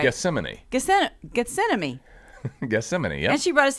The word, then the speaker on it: Gethsemane: Gethsemane, yeah.